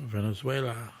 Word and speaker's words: Venezuela: has been as winglets Venezuela Venezuela Venezuela don't be oh my god no the v's pronounces a B I asked the Carmel